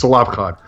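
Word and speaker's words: Tzelafchad: And I have no idea how that's mispronounced in Christian circles. Tzalafchad. I don't even know how they pronounce it, but it's Tzalafchad.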